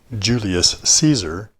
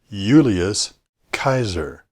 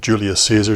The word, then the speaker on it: Julius Caesar: correctly it's not really Julius Caesar but rather Julius Kaiser Latin doesn't have a soft C Sound and J is always pronounced as a y nevertheless I'm going to stick with Julius Caesar just because that's the